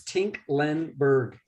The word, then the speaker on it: Tinklenberg: who's next tingleberg tinklingberg is that did i say your name your last name record say it again tinkleberg it's it's three syllables it's tink lenberg tinklenberg so yeah so good